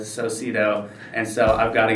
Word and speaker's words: Socedo: and relationship dynamics uh a penguin also wears a tuxedo which rhymes with socido and so i've got